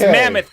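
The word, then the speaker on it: Mammith: just calling mammoth it's mammoth but it's spelled with an i-t-h so yeah yeah let's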